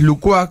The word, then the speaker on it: Lucuix: con la historia de Matías Lucuá, que es el entrenador, se escribe Lucuix, el entrenador de la...